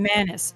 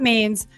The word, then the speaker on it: Manis: know this this guy his name is Benjamin Manis not Maine's mantis two ends two syllables you'll hear about this